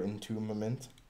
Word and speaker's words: entombment: All right, one more example here of domination or entombment. Kind of a tough word to say. Entombment? Yeah. Well, I think the B is silent. So it makes it a little bit easier.